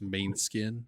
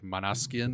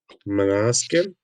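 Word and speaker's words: Måneskin: Like if I read it, it's main skin, but I think it's pronounced like Manaskin or something like that.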